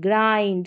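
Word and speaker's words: grind: ब्लिंड करके नहीं पढ़ेंगे यह ग्रिंड नहीं ग्राइंड किंड नहीं काइंड यह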